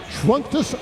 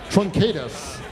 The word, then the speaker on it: Truncatus: Visit Tertiaps Trunctus Studios in the lobby to become a test pilot for their new game, The Day We Fought Space. And that should have been pronounced Tertiaps Truncatus. The Day We Fought Space.